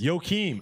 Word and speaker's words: Joaquin: Joaquin.